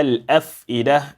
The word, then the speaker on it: الأفئدة: التي تطلع على الأفئدة. And also pay attention to the fa. The fa must give you that sound, whispering sound, على الأف.